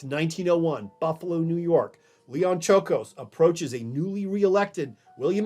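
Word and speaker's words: Czolgosz: inspires a steelworker named Leon, I got to pronounce this correctly, Leon Chocos.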